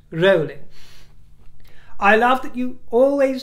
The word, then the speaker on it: Rowling: this in the past, it is Rowling, it is not Rowling, as in growling, my dear. She doesn't mind how you pronounce it, but it is pronounced Rowling.